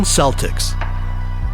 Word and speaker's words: Celtics: But why are they pronouncing it with an S sound, not a K sound?